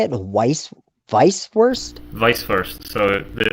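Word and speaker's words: Weißwurst: you say it weiss vice worst vice first so the the germans they pronounce the w with a v vice verse vice it's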